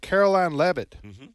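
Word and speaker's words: Karoline Leavitt: heard I'm I'm looking forward to hearing from Caroline levit is that her name yes that's exactly how you pronounce she's 27 years old and she's uh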